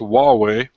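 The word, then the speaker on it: Huawei: pronounce this company but we found out it's pronounced a wall way far away it's not a new company they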